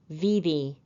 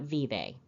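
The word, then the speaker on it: Vevay: a local man that the locals pronounce v v a y vvv not vve General John persing passed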